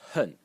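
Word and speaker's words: 恨: The next character in the series is pronounced hun in the fourth tone.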